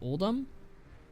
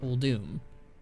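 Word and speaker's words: Uldum: of the things that I always pronounced uh wrong apparently was oldum uh it's actually pronounced old doom and and I remember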